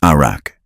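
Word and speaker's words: ערך: In Hebrew, arak, pronounced arak.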